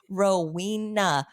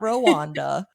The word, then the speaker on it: Rowena: Rowena, not Rwanda, not Rwanda, not Regina.